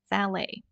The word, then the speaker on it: valet: word here is a valet right and please notice the pronunciation uh it's a at the end T is not pronounced T is silent valet uh that's a person